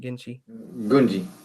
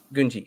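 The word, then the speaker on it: Gungi: I think is that how you say his name, Genji? Gunji, sorry, Gunji.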